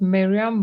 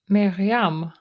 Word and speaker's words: Myriam: while okay okay so how do I pronounce your name correctly in French it's not Miriam butam miam miam okay miam so yeah thank you